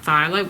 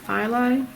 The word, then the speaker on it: phthalo: go for this one, which is the light phthalo, which I think is the best match for this colour here. I'll put him here. I'm thinking this will probably be our grasshopper's colours. So that's the light phthalo.